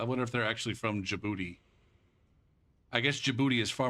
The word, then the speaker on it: Djibouti: it's jaib boti yeah but it's spelled DJ DJ Djibouti DJ I don't know uuti or something like that or like Jango the D is silent that's why some people